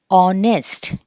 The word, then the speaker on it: honest: Okay, same rule ఇందాకట్లాగా దీన్ని మనము ఆనెస్ట్ అని చెప్పి పలకాలి. ఓకే, సో హెచ్ అనేది మనకి సైలెంట్.